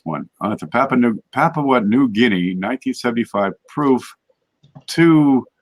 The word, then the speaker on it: Papua: I can't say that how do you say Papa New Guinea Papua happily yeah that's before it becomes a larva